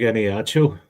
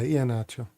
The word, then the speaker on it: Iheanacho: Big Eniacho. Fair play to him. Did really nothing during it. Did I pronounce that right?